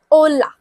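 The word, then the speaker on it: hola: जब मैंने इसको बोला कि H जो है वो साइलेंट है, तो बाकी क्या हो गया? ओला।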